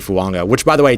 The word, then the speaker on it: Fuaga: found him in Taliese Fuaga, which, by the way, Talese is the name, Fuaga with a light N sound at the end there.